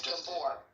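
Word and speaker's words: Gabor Maté: Is it Gabor? Is that how you pronounce it? Tell me the truth. It's Gabor. Gabor? Okay. Gabor. Is it? It's Hungarian, like, yeah.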